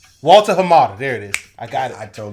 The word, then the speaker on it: Hamada: Walter Hamada.